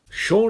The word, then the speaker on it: Shaun: Well, I mean, I know the title's supposed to be a piss take on Dawn of the Dead because Shaun rhymes with Dawn.